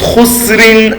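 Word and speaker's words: خسر: So now two sukuns are there. What do? We pronounce it normally and completely. Innal insana lafi khusr. That's all. Khusr. We just pronounce it khusr.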